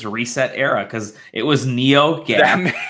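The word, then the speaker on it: ResetEra: completely oh my god is that how it's pronounced reset era yeah reset reset era yeah I've never heard it out loud before I've only seen the URL and I thought it was pronounced reset or rest cetera I call it ret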